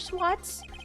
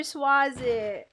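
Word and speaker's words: Sahwit: Swats? Or should I say, Mr. Did It? Oh, Swazit. Oh, his name was Mr. Swazit. Oh, I never pronounced it right.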